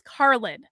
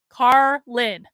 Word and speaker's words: Carlin: Z my name is Carlin Carlin like George Carlin but not everyone knows